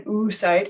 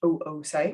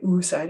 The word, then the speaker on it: oocyte: known as an oocyte it's not an oocyte it's pronounced oocyte i guess you can say oocyte if you want to and um if